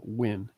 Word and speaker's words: Wynn: and writer's name uh win i knew it was i knew it was something and g is a what yeah it's pronounced like w-i-n or w-e-n really when yeah and it says